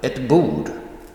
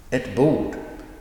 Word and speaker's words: ett bord: For example, ett bord. Ett bord. So the first one, the article, et, is pronounced very briefly, shortly, and then the noun is emphasized.